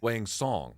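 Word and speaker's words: Wang Cong: Wang Song. Yes. Spelt what? So the C is actually kind of like an TS. S pronunciation. Yes. Wang Song. They were saying Tong on the broadcast, and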